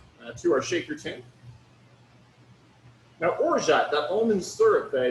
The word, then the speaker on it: orgeat: O-R-G-E-A-T, orgeat. Some people pronounce it orge. I don't think that's right, though.